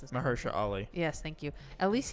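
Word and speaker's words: Mahershala Ali: stupid but at least mahersha I can never pronounce it mahersha Ali yes thank you at least you can bring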